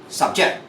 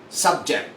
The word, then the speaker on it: subject: subject for now our subject for today is English if I'm going to use this in a verb form it's going to be subject the pronunciation must be fast subject you're subjected for investigation